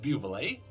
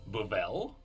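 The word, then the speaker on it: Buvelle: we learned that the family's name is not pronounced beautifully it is babel it makes more sense so the dependent squire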